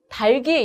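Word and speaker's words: 닭이: 자, 지금 여기 보시면 자, 얘를 우리가 닭기로 잘못 발음하는 경우가 있는데 이때는 앞에 있는 기억을 이 모음에 이어서 발음을 하는 겁니다. 그래서 달기 이렇게 발음을 하는 게 맞고요.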